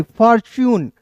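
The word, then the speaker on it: fortune: तो देखिए यहां पे इसका उच्चारण दोस्तों च के रूप में होगा।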